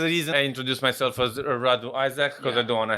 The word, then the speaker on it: Radu Isac: So in Romanian, my whole name is Radu Isac. Radu Isac. Yeah. Okay. But you need to do the rolling of the R, the Radu.